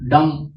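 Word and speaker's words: dumb: डम वर्ड जो है डीयू एम भी लिखा जाता है लेकिन बी साइलेंट है इसलिए इसको डम बोलते हैं साउंड साउंड वाइज इसको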